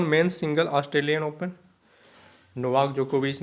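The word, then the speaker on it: Djokovic: जाता है तो नोवाक जोकोविच है ना डी यहां पे साइलेंट है तो ऑस्ट्रेलियन ओपन में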